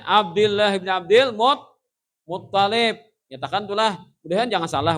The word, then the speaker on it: Muttalib: Jadi bacanya Abdullah bin Abdul Muttalib. Nyatakan itulah. Mudahan jangan salah bu nikam dengan bu di kampung Mecarawi. Abdullah bin Abdul Muttalib ya mendetok. Menyupanakan paguruan lah. Tasdid itu di ta bukan di lam.